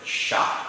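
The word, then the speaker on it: chat: Now, what's the letter in French that we're not pronouncing? It's the T. And where is it? It's at the end.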